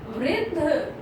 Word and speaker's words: वृद्ध: वृद्ध. Okay, the is half letter here because down slash is there, so we have to pronounce little fast.